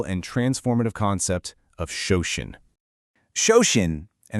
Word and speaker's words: Shoshin: Shoshin, and it's pronounced Shosheen, is a core concept